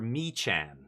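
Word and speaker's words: Mechan: Survey Meccan. Now, I don't know how you pronounce it around the Hamhawks community, but I prefer Michan.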